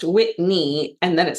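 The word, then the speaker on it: Whitni: It's Whitney spelled w h i t n i and then it's pronounced Whitney and then it says, "The i throws people off."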